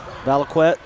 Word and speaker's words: Valiquette: say that name Owen Valiquette VALIC went all right junior had 11 I did get feedback by the way that we pronounced that correctly all right well let's